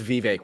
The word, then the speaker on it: Vivek: By the way, it's Vivek. We're a bunch of racists for mispronouncing it.